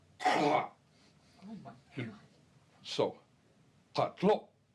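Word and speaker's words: qatlho': It is said in the back of the throat, pa. Pa. And it is spelled using the Latin alphabet Q-A.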